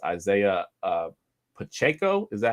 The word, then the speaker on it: Pacheco: I think it's Isaiah Pacheco.